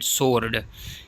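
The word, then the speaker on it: sword: guest ji साइलें एंड सोर्ड इसमें जो है डबल सालन है तलवार को कहते हैं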